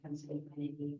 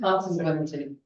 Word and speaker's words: consanguinity: Consanguinity. Consanguinity. Consanguine. Gwenity, that girl Gwen, consanguinity.